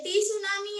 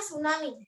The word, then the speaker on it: tsunami: टी सुनामी या सुनामी? टी सुनामी नहीं बोलते माधवन, सिर्फ सुनामी बोलते हैं। टी साइलेंट है।